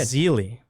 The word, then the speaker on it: Basile: Basile. Basile. With his, like a Z. Basile. That's how you Basile. pronounce Grant Basile's name.